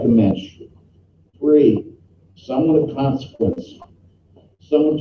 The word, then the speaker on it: mensch: Mensch, M-E-N-S-H, or M-E-N-C-H, rhymes with bench, from the German Mensch, person, plural, Menschen, one, a human being, after all, he's a mensch, not an animal.